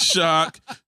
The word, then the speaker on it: Shaq: but but it spell it spells Shaq but his name is shock though but you know it